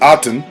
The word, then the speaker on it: Aten: page 23 character overview Athen pronounced aten was an ancient Egyptian